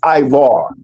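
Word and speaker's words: עברי: The way you pronounce Hebrew in the Hebrew language is Ivar or okay?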